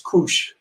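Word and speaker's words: couche: however is put down something called a couch or in French it's Koosh and that means I'm going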